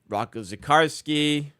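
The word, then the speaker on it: Rocco Zikarsky: Um, Roco Zakarsski, that's how you say it.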